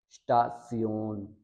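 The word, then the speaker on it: Station: और 11 रूल है कि S के बाद अगर P आ जाए तो S की साउंड शीन से होती है वर्ड के शुरू में, तो ये होगा स्टासियोन, स्टासियोन।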